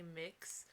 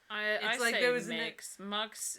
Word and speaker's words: Mx: people say much and some people say mix mucks just i don't like